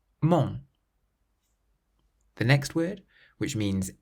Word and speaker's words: mon: So how would you pronounce this first word, which means bread? Pain, pain. The next word, meaning my, mon, mon.